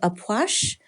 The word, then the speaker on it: Ah Puch: masculine energy we have aash wow that is not the way I would think that that's pronounced um the key word